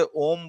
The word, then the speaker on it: ओम: ये जो माँ है, इस माँ से इस ओ का उच्चारण कैसा होना चाहिए, 3 गुना ज्यादा होना चाहिए, और ये जो माँ है इसका उच्चारण कम होना चाहिए। अब जैसे ओम बोलते समय हम क्या